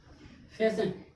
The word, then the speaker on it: fasten: फैशन। FASTEN। EN के पहले टी आ गया और एस के बाद भी टी आया तो क्या आ जाएगा? टी साइलेंट हो जाएगा।